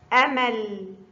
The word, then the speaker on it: أمل: 1 أمل. عمل. أمل عمل. هناك فرق بين نطق آ وعا. أمل، عمل.